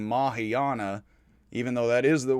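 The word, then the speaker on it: Mahāyāna: and later mahayana buddhists i do say teravata and mahayana some say teravata mahayana the words would be more pronounced and i think it would be better in english to say teravata and mahayana and these are words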